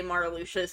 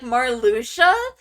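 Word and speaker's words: Marluxia: me the first time I heard somebody say Mara Lucia's name out loud I was like Mar Lucia that's how you pronounce it Mara Lucia Mar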